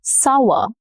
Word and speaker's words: sour: The milk turned sour, sour. This rhymes with power. The vowel cluster OU often shifts here. It makes an ow sound, ow, sour.